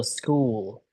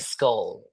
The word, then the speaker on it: school: And And how about also school. school? You were more like skull.